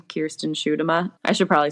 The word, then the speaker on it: Schuitema: does it's literally impossible I used to in high school they called me like like sh them